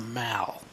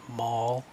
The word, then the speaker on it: Mall: down, that's called the Mall. Even though in America they might say mall, the mall, that's not how they say it in England. They call this the Mall.